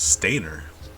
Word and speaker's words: Steiner: up we call them steiner but if we're looking at like the japanese like the letters the vowels that they use technically it'd be pronounced stainer but also the whole